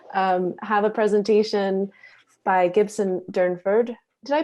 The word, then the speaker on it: Gibson Durnford: we're going to um have a presentation by gibson durnford did i pronounce that right absolutely good and um fiber